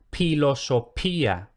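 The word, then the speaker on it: philosophia: Luego tenemos la grafía PH, que es similar a CH. Entonces, una P aspirada, y por raro que esto nos pueda parecer, esto un romano culto lo pronunciaría pilosopía.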